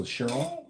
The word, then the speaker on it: Chiron: I'm trying to learn how to pronounce it right. So Cheron Cheron's my son says it's Chiron and he's like a a damn he's a NASA physicist.